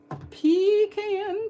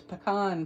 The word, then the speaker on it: pecan: And I'm going to stamp that in pean pie. That's how you say it up north. But down here, we say it right, which is pecan pie.